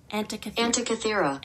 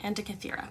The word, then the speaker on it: Antikythera: Antikythera. Antikythera. Antikythera. Okay, so it was right, but like just had the emphasis on the wrong syllable. Antikythera. Antikythera.